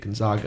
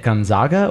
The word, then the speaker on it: Gonzaga: Duke, Ohio State, Gonzaga, and Florida.